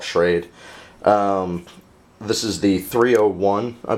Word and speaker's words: Schrade: my new knife by, I believe it's pronounced Schrade. I've heard somebody call it Schrady before. I don't know. I don't really care. I'm going to call it Schrade.